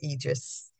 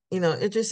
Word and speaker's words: Idris: I think he pronounces it Idris. I said Idris.